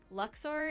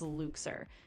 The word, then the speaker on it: Luxor: Luxor is pronounced like Luxor or sometimes Luxer.